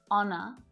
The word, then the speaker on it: honor: Sometimes it's not pronounced at the start of words, like honest, honor, and hour, and it can also